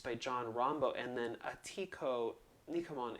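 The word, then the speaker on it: Atihko Nikamon: john rambo and then atiku nikuman is the cree how you say it in crete and i should have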